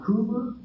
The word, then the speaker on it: Clodfelter: Carolyn is on behalf of Don Clodfelter. Is that Did I pronounce that correctly?